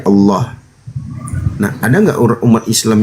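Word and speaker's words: الله: kaidah kaidah pelafalan ee huruf lam lam yang di fathah itu memang mayoritas ya dan itu secara tajwid itu pembacaannya itu dengan ee tafkhim dibaca tebal ya Allah.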